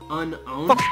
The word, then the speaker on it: Unown: of time hey Alex I just looked up unknown in the Pokédex 3D Pro app and did you know that the correct pronunciation is actually unowned you number six my loic